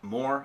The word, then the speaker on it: Mohr: So in your Instagram, Facebook, it's at Mohr, M-O-H-R, Caps, exactly how it's spelled and how it sounds.